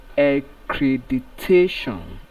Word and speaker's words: accreditation: Then the given word here is pronounced as accreditation.